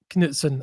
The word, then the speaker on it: Knutsen: particularly on Kuten and I've learned to say his name is Sheetil um Kudson.